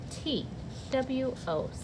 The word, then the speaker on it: two: it without looking it has a letter in it that's silent t w o says two it's the number two